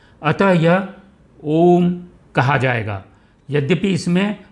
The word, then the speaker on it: ओम: यद्यपि इसमें अ, उ और म हैं, इसका उच्चारण कभी भी औम नहीं हो सकता। यह गलत उच्चारण है। इसका उच्चारण करना है तो हमारे को ओम बोलना पड़ेगा।